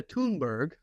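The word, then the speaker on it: Thunberg: So 12 individuals, diplomats, influencers, one of which was Greta Tunberg, which is how she pronounces it, uh got on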